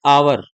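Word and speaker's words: hour: फिर देखो, एन आवर, सावर नहीं पढ़ते हैं, हमारे यहाँ प्रोनाउंसिएशन ही गलत होता, हावर पढ़ देते हैं। ये देखो, ये भी एच से शुरू हो रहा है, पर इसको पढ़ेंगे आवर, वन आवर, आवर।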